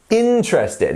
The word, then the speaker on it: interested: after me interested interested where is the word stress in this word here so this word is three syllables right so let's have our imaginary drum and we go interested interested right um and where is our where is our um stressed syllable listen to me interested is it interested interested no it's interested it's on the first syllable here and we can